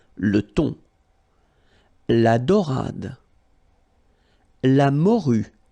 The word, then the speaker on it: morue: La morue. Final E not pronounced.